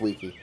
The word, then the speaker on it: vici: Vici, Vici, Vici. Vici. But technically, in the old Latin, it would have been pronounced wiki. Wiki, wiki, wiki.